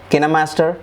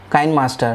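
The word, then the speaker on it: KineMaster: is from a'dope for video editing we have Cana master from a South Korean company called canna master corporations some pronounce it as kind master but the proper pronunciation is can a master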